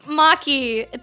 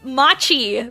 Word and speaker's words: Maki: And then nobody knew how to pronounce Maki. They called me Machi because that's not how you read Mchiato.